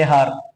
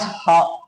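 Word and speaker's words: hour: you should not pronounce har. You should pronounce this word as har only. You should not pronounce h. You should consider only o.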